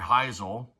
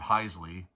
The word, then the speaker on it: Hisle: There's Larry Heisle, not Heisley or Hisley, which I've heard it pronounced too.